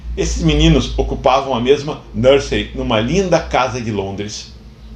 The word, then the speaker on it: nursery: Esses meninos ocupavam a mesma nursery numa linda casa de Londres. Nursery? Repetiu Pedrinho. Que vem a ser isso? Nursery pronuncia-se nursery, quer dizer em inglês quarto de crianças.